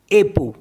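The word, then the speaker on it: époux: दो मीस soft and ई पी ओ यू एक्स एप एप मीस स्पाउस स्पाउस मीस हस्बैंड या वाइफ को बोलते हैं स्पाउस तो एू लास्ट में अगर एक्स होगा तो उसको भी हम प्रोनाउंस नहीं करते हैं अब इसमें भी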